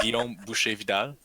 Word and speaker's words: Guillaume Boucher Vidal: Boucher is actually butcher so my name is Guillaume Boucher Vidal I'm the founder of NIDA studio and and